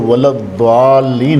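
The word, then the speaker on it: الضالين: جاتا ہے نا کہ یہ جو ولدضالین ہے، اس کو ولدضالین کہیں، ولدضالین، اور کچھ لوگ کہتے ہیں ولدضالین، ولدضالین، ولدضالین، اور یہ دونوں تلفظ صحیح نہیں ہیں، یہ دونوں تلفظ صحیح نہیں ہیں، کیونکہ اس کا تلفظ زے اور دال کے درمیان ہے، زواد کا، ولدضالین۔ اب ولدضالین اگر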